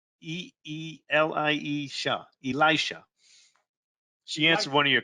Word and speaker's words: Elisha: I mispronounced it. It's Elisha. Elisha. E-E-L-I-E-Sha. Elisha.